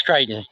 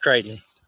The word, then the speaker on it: Crichton: know when you know I can't is it kryon I CH h r i t o n Christan I mean I don't know how to say that yeah it's kryon it's pronounced kryon kryon but I mean but like like he